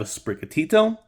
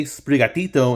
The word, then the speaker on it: Sprigatito: the same word and I want to say sprigatito instead of sprigatido or something like that it's a good name